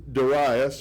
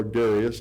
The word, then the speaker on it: Darius: any god other than Darius, or Darius, depending on how you want to pronounce it. I was always taught Darius, and now I know it's supposed to be Darius.